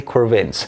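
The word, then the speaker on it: de Quervain: thyroiditis also known as the core veins take four veins rhymes with pain so remember I will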